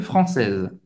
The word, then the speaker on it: française: Une française. Une française. Essa vez você vai pronunciar o Z aqui, um Z.